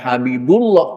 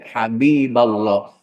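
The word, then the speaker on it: حبيب الله: Jangan Habibullah, tapi Habiballah.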